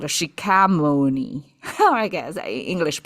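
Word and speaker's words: 释迦牟尼: Because Chinese translate um the founder of Buddhism is called a Shi Ka Mou Ni. Or I guess English pronunciation, but the Chinese translate the Shi Jia Mou Ni.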